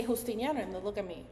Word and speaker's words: Justiniano: So my true pronunciation is Justiniano. Oh! The J in Spanish, you know, like it's like a sound. Like an H sound.